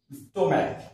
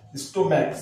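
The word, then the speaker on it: stomach: এইচ তাহলে সি এর পরে আসছে এইচ এর উচ্চারণটা এখানে নেই হ্যাঁ chemistry স্টোম্যাক স্টোম্যাক সি এইচ এইচটা হচ্ছে না ইকো ই সি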